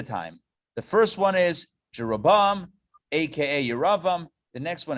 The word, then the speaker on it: Jeroboam: So I think in the English it's pronounced Jeroboam, Ahab, and Manasseh. However, it's Yeravam, Achav, and Manasseh in the Hebrew.